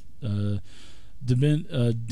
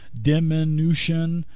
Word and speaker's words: diminution: animal friendship clairvoyance climbing DeMint ammunition I keep butchering that word diminution I'm sorry I had to say it really slow because of the syllables and I just what